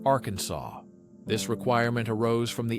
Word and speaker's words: Arkansas: It must be pronounced with a silent ending, like Arkansas This requirement arose from the 1881 resolution to resolve a dispute between two U.S.